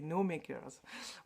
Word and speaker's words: Gnome Acres: Enfin, moi, au départ, je comprenais No Makers. Quand... Christelle, j'ai en parlé, ou alors Moira. Et en fait, je suis allée regarder et ça s'écrit Gnome Acres. Voilà. prononcer à l'anglaise, c'est No Makers.